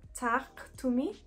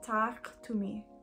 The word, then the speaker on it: Taaqtumi: It's horror stories, but it's Tak Tumi. I'm trying my best to pronounce this correctly. I know that the Q has to be a little bit more guttural.